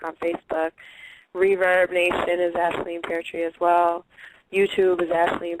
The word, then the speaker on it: Aisling Peartree: Twitter, Facebook, it's Aisleen Peartree Music on Facebook. Reverb Nation is Aisleen Peartree as well.